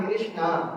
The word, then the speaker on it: कृष्णा: अ है अंत में और द्रोपदी का जब कृष्णा बोलेंगे तो आ की मात्रा का उच्चारण हो जाता है द्रोपदी को कृष्णा भी